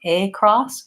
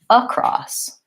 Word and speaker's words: across: is short and reduced so it's not a or AA or a cross it's a cross it sounds like the most important thing in pronouncing these words is to make sure that your long and stressed on the second syllable and that you're just touching that first syllable lightly and quickly across above of about sounds like uh so that's one of